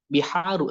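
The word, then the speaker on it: الْبِحَارُ: Nah, kemudian huruf ha yang berharokat fathah bertemu dengan alif yang berharokat sukun. Nah, maka dia dibacanya maqtabi'i, panjangnya 2 harokat.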